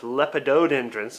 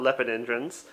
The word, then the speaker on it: lepidodendrons: out these are actually it's actually pronounced lepidodendrons not leopard entrance but check that out